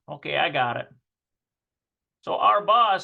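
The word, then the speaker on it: ארבע: Okay, so the last autobuses are leaving, and we need to put Arba Vahatsi.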